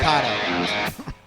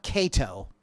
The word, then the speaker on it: KAATO: it's spelled KAATO, not Kato. KAATO. You say Kato, I say KAATO. Actually, it's actually KAATO. I'll be saying KAATO because it's like KAATO. the Ka snake.